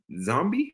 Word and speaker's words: Xombi: Shadow Cabinet, Zombie. Oh, Zombie. Oh, spelled with an X. XOMBI.